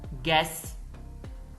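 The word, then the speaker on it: guess: resignation Atif designation ओहदा गैस दोस्तों य ल गैस है इसमें यू साइलेंट है गैस अंदाजा गर्ड फफा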